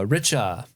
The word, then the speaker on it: Richa: one comes from uh Richa hi guys my name is Rich pronounced like the word rich with an uh at the end feel free to use